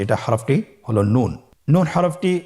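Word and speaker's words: نون: আপনারা আমার সাথে বলুন নুন। আরেকবার চেষ্টা করুন। নুন নূর হরফটির উচ্চারণ স্থান হচ্ছে জিহ্বার আগা তার বরাবর উপরে তালুর সঙ্গে লাগিয়ে উচ্চারিত হয়।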